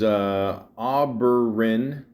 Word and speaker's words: Oberyn: After nearly 2 decades of taking small roles on stage and television, Pascal's had his breakout role as Oberyn, is that how you say it?